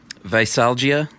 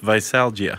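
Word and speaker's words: veisalgia: cursed and dreaded hangover visalgia yeah is that the correct pronunciation that's how I took it that's the medical medical name for hangover is visalgia yeah and it comes from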